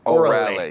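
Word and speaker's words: Órale: And the correct pronunciation of the restaurant is Orale.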